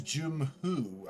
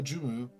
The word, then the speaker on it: Jumu: I thought it was Jumhu. I thought H was the other side, so I said it wrong. Anyway, Mr. Kolio Jumu, proprietor of the concessions